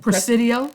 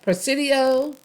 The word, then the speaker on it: Presidio: there was press press Theory how do you pronounce it Presidio Presidio yesleta yes Lita Nacogdoches Saint Augustine San Antonio